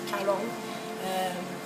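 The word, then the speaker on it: Karon: En fait, ça s'écrit K-A-R-O-N et les Thaïs prononcent le R comme un L, donc Caron.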